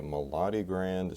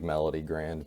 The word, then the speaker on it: Melodigrand: way to pronounce it i like melody grand because melody makes sense but the melody grand